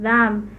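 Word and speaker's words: דם: esto eh recordemos que la palabra eh sangre significa eh en en la pronunciación es dam Eh bueno no voy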